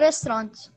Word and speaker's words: restaurant: Yes, but we don't pronounce the T.